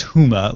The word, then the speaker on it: Houma: that freaks me out yeah Shane says it's pronounced Houma Louisiana so apologies to the residents there for